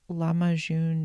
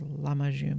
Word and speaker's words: lahmacun: it's that Turkish pizza, a lot of Turkish words have the emphasis on the first syllable of the word, so I thought it was lahmacun, but I think it's lahmacun. Anyway, I'm sure I'm destroying